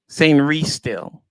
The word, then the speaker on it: Sainristil: Yeah, Sainristil. That's how you say it.